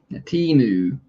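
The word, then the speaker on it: Temu: And Trey said, I feel like I'm watching Timu Holly. Timu being a word I mispronounced until I saw the commercials for it during the Super Bowl.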